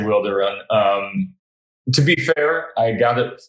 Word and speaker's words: Wilderun: to run we uh that's that's how we say it we say wilder run um to be fair